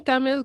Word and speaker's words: Tamil: spoken and i'm saying am i saying tamil correctly yes actually you're pronouncing it quite right like in english we can't say tamil but tamil is actually the more authentic way so you're pretty you're